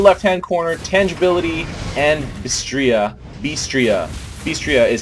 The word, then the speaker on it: BStria: BStria is how you pronounce her name, alright guys?